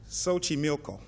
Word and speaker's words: Xochimilco: Xochimilco.